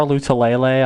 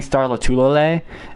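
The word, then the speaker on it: Lotulelei: derek henry through star lutalele on the ground who i who espn refuses to pronounce his name right they kept saying starla tulole and i wanted to punch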